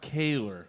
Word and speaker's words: Keeler: pronounced Kaler. New Brunswick. Kaler. Yeah. Kaler.